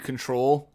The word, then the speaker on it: CTRL: For clarification, CTRL, in case that means something else, I'm pronouncing it as Control.